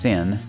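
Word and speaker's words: Seine: that they had on sin river uh found out that's how you pronounce that it is pronounced sin and you know it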